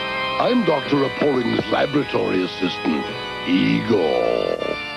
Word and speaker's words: Igor: Appalling's laboratory assistant, Igor. That rhymes with Seymour.